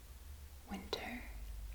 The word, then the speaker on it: winter: Winter is pronounced as winter. It's almost the same. Winter. The R is a little bit different.